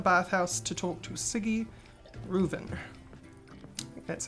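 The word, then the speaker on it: Sigi Reuven: go to the bathhouse to talk to a ciggy reuven that's how you say his name i've also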